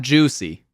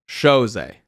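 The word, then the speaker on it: José: It's definitely not juicy. Jose. More like this. Jose. It's not juicy.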